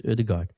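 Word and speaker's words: Ødegaard: and Erdigard is so often of ode depends how you want to say but I think officially pronounced as Erdigard he's the first player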